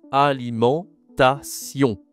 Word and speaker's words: alimentation: C'est le mot alimentation. Attention, ici la prononciation. Tu as la nasale en aliment et il y a aussi le on y à la fin. en ion en on d'accord c'est deux nasales si tu as du